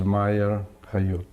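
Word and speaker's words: Meyer Khayut: And would you state your whole name and spell it? My name is Meyer Hayut.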